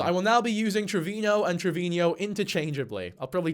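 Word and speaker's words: Treviño: in my last video I was actually pronouncing Ashley Trevino's name correctly with the N with the accent on top, Trevino and not Trevino.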